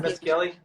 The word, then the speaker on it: Mescioli: also pour one of your white wines, the Mescioli, which it's going to show it backwards on the screen, but is that how you say it? Yeah, Mescioli.